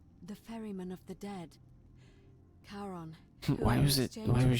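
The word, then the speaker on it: Charon: Only your pronunciation is a little off. The name you heard wasn't Karen. It was C H A O N as inh the fairyman of the dead. Kon, why was it why was she just like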